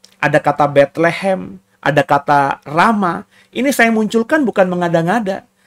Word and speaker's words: Ramah: saudara tadi ada kata Rama Rama Itu adalah sebuah kota di di peta ini ramah ya teman kan kalau ee orangorang yang orang berbahasa Inggris itu hak itu kadang-kadang tidak diucapkan Ya ramah ya kota